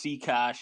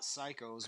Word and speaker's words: Seakosh: The only reason I know how to pronounce Seakosh is because I went to college with one. I would have called myself Scott Psychos my whole life.